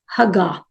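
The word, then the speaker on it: הגה: इसका जो Hebrew word है वो है मुझे प्रोनाउंस कर था इट्स हगा एच ए जी ए एच आप चाहे तो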